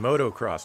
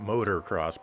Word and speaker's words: motocross: bike in racing traffic i mean motocross not motorcross pronouncing things is hard